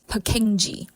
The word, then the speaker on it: Purkinje: can associate it with it is the pure King of the little brain which is the cerebellum it pronounced as peni the cell structure for